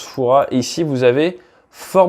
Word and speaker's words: Fouras: alors la Rochelle regarder Fouras ça se prononce Fouras et si vous avez